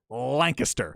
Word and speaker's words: Lancaster: Remember, it's not Lancaster. Yeah, I always say Lancaster. It's not England. Remember, when you're in Texas, go with the Texas pronunciation. Lancaster.